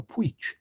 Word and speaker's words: Puig: That's how you say it, Puig. It's because of the part of Spain he's from.